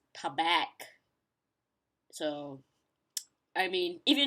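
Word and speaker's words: Tabac: So it's supposed to be tea-bag, but for me, I would pronounce it as tabak.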